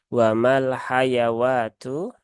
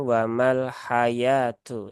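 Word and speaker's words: وَمَا الْحَيَاةُ: tulisannya seperti ini ya ini tidak dibaca dengan wamal hayawatu Tetapi dia dibaca dengan wamal hayatu ya ini adalah e Alif shir yang berfungsi untuk memanjangkan ynya n Jadi bukan bukan huruf wau ya cuman kalau di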